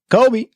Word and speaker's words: Kobe: Kobe Pro TRO 5 you didn't say it right trying it sorry Kobe wait Kobe 5 proto final championship no I meant just the first word what Kobe just like that that's how you have to say it oh yeah